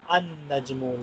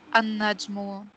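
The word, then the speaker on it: النجم: So I will pronounce An-Najmu, Lam is silent. Ar-Rajlu, yes. Lam is silent. Ad-Diku, Lam is silent. Okay? Yes. Okay, so Najmun, An-Najmu.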